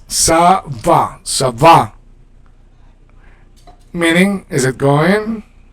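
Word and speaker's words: ça va: And you pronounce it with the S. Savva.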